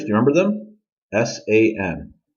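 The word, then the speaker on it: 三: do you remember them s-a-n San and that's how you say it okay let's go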